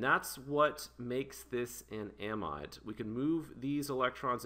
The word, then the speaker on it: amide: it's not an amine it's an amide or amid right so this this is an amide so a lot of people pronounce this amid all right so it's